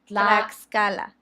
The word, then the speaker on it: Tlaxcala: We pronounce the X. Not in Mexico. Mexico. Yeah. Tlaxcala.